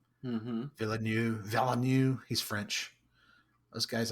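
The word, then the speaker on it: Villeneuve: Villanu Villanu.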